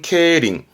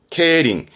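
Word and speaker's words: 競輪: 케바 바 뒤글자 했던 거 바퀴륜 자거든요 경륜이 발음은 케링 케링 이때 경륜이 뭐냐면 요런 거예요 자전거를 가지고 합합니다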